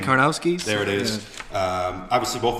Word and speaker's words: Karnowski: the big Polish guy who I can never pronounce his name. Karnowski?